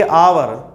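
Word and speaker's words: hour: तरीका चेक करना पड़ेगा इसको हम और नहीं पढ़ेंगे इसको हम पढ़ेंगे अवर इसमें ह जो है वो साइलेंट होगा अब क्यों साइलेंट होगा वो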